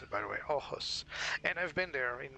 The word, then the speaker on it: Aarhus: airport called Arhus, and that's the way you pronounce it, by the way, Arhus.